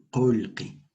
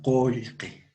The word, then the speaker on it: qolqi: Dice, en la forma escrita vamos a encontrar esta palabra, qolqi, en la forma escrita. Pero en la forma oral se pronuncia qolqi. ¿De acuerdo? Qolqi, repetimos, qolqi. Dinero.